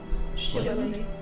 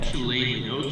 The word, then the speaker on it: Shillelagh: How do you even pronounce that cantrip? Shillelagh? Shillelagh. Yeah. Shillelagh, okay.